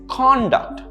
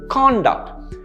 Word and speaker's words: conduct: as this this is conduct notice the stress on the first syllable conduct essentially conduct is behavior